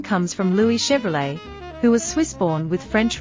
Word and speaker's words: Chevrolet: Chevrolet. Close, but the T is silent. It's Chevrolet. Wait, isn't Chevrolet an American brand? It is, but the name comes from Louis Chevrolet, who was Swiss-born with French roots.